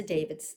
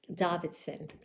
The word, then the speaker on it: Davidsen: a vice of and Lisa David's Davidson as I hear she is her name is pronounced so every year when